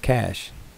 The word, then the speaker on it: cache: be too far away cash pronounced cash used to store information